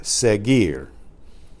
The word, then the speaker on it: seguir: the first place is seguir SE g u ir where the you you remember is silent so that that preserved the the hard G sound before the sound of the letter I the e sound el profesor Karia que